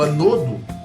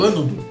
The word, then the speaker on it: ânodo: Bom, aí ele fala, então, que o tal do anodo, ou ânodo, vocês vão ouvir a pronúncia de duas formas diferentes, ele gera um fluxo de elétrons.